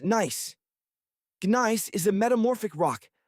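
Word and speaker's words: gneiss: The surface is primarily loose gravel scattered with ancient rocks of granite and something called Gnice, pronounced nice.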